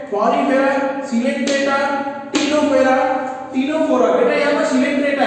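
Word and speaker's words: Ctenophora: अच्छा, non coordinate group को बेटा कितने ग्रुप में बांटा गया है, पॉलीफेरा, सिलेंट्रेटा, टीनोफेरा, टीनोफोरा, बेटा यहाँ पर सिलेंट्रेटा है, टीनोफोरा सी साइलेंट है यहाँ पे, ओके।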